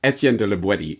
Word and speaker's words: Étienne de La Boétie: with this call them whatever you want but etienne de libweti is apparently the proper pronunciation terrific let's now that we know the author's name let's get into the content starting on page 42.